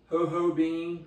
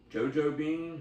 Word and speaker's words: JoJo Bean: beer snob this is called hoho bean or jojo bean ho ho bean however you want to pronounce it coffee porter this is